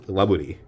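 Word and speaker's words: ラブリー: They're using the actual Japanese pronunciation of the word lovely, which is laburi, and like it's not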